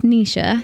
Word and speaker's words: Nesha: so that's another thing my name yeah is pronounce Nisha so as if it was n-i-s-h-a that's been the band